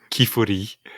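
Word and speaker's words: Qifrey: In Japanese, it's pronounced Kifuri.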